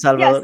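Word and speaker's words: El Salvador: ahead, pronounce it. It's Salvador.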